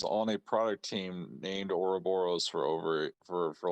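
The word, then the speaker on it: Ouroboros: is what I'm saying no it's not Michael oroboros is how you pronounce it I was on a product team named oroboros for over for for like oh yeah it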